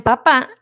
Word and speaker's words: papá: Por ejemplo, la palabra papá es diferente de la palabra papa, ¿sí? ¿Por qué? Porque en la primera, o sea, en papá, la sílaba con acento es